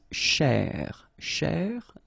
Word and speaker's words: chercher: So this first part here, C-H-E-R, you will pronounce it quite open, so it's cher, cher, okay?